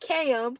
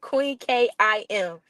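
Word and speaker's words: Queen Kiam: It's not KM, Queen KIM. That's how you say it, y'all.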